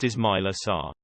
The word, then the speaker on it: Ismaila Sarr: Pronounced Ismaila Sarr.